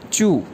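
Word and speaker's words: 祝: जी, wish करना, to wish, इसकी Chinese है ZHU फोर टोन के साथ चू।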